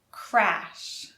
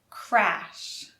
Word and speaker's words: crash: Crash has the R. Crash. Crash. Clash has the L.